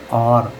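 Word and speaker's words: or: इसी प्रकार हम इसको और नहीं पढ़ेंगे। इसको हम पढ़ेंगे आर।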